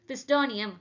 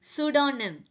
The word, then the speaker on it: pseudonym: தானே ஆரம்பிக்குது, அப்போ வந்து பிஸ்டானியம் அப்படி தானே படிக்கணும் அப்படின்னு ஒரு சிலவங்க யோசிப்பீங்க. பட் இதை மிஸ்டேக்லாம் அப்படிதான் ப்ரொனவுன்ஸ் பண்றாங்க. இது ஆக்சுவலா எப்படி ப்ரொனவுன்ஸ் பண்ணணும்னா இதுல be silent. So this is known as pseudonym. pseudonym.